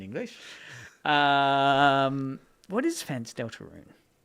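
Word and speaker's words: Deltarune: Del Tarun Pokemon and Sonic the Delta Delaroon. Delarun. How do you say in English? Um, what is fans? Delta Rune.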